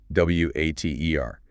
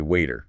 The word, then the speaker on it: water: The classic example being water. W A T E R. We don't say water, we say waiter.